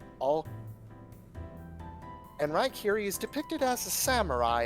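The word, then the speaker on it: Raikiri: the true god of thunder, is known as Rykiri. How do I spell that out of character? R-A-I-K-I-R-I. R-A-I. bleh. Here, I'll just Can you type it spell into... Yeah, it's spelled in the get chat. Rykiri.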